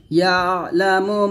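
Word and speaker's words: يَعْلَمُ: দিয়ে টান দিবেন ইয়ালামু ইয়ালা ইয়ালা এরকম ভাবে পড়বেন না ইয়ালামু এরকম ইয়ালামু মা বাইনা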